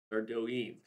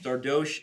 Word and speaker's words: Sardoche: Sardoine. I need to stop talking. I've struggled with how to say his name a lot. Sardosh. Dosh. So, uh-huh. Yeah, French, not my specialty. Yeah, but sardosh sounds pretty natural.